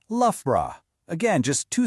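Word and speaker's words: Loughborough: It's lra. Again, just two syllables from that whole jumble of letters.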